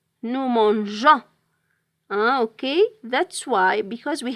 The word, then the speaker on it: mangeons: the personal pronoun nous, we can't write with the G without E because we will pronounce it mangan. G with an O, it's pronounced go. So here we have to add the E in order to pronounce G.